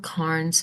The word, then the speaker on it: Cairns: Now it's spelled Cairns, but it is pronounced Cairns like a tin can.